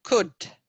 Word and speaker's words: could: Allora, annota un po' meglio questa pronuncia. Could.